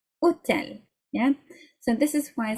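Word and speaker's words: hôtel: The H is silent. You don't pronounce it. Hotel, yeah?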